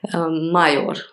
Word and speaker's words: Major: Mayor. In Hungarian, Major. It's spelled major.